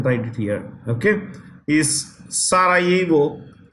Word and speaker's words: Sarajevo: Okay, is Sarajevo. The J in this word is silent. It's Sarajevo.